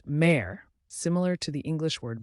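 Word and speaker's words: mère: let's start with May which means mother it's pronounced May similar to the English word Mar a mother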